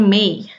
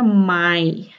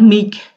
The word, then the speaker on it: mig: Tulisannya mig, dibacanya May ya. May ini kalau di Skånsk atau di Swedia Selatan, kayaknya kalau di Stockholm atau region lain kita bilangnya Maj. Ya, jadi antara May atau Maj, tapi mereka ngerti lah. May, Maj. Yang penting jangan mig, karena mereka bakal bingung gitu, apa tuh mig gitu ya.